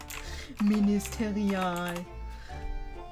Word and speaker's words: ministerial: I doubt you actually say the E. Hold on. Ministerial. Thank you so much for the German. That's not what I was searching for. Ministerial.